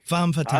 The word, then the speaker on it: femme fatale: Whoever says Fatale is wrong. Okay. Femme Fatale. All right. Femme Fatale. Femme Fatale. Yeah. That's as opposed to an homme fatale. French? Yes, absolutely. Yeah. Femme Fatale.